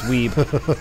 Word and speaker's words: Weeb: Web. No, it's... Yeah. No, it's Weeb. It's pronounced Weeb. Phonetics change in Quake universe.